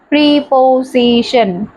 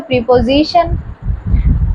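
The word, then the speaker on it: preposition: pray পিও প এস আই টি আই এনশন প্রিপজিশন এবার এই এস আইটাকে তোমরা বলবে কি এসইটা তো সি হল কিন্তু এর উচ্চারণ তো প্রিপজিশন তো যখন এস কথাটা সরি এস লেটারটা মাঝে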